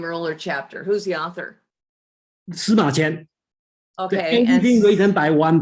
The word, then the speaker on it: Sima Qian: Sima Qian.